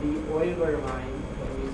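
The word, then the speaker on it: Euler: okay and that line has name called the oiler line and we spell that u e u l e r and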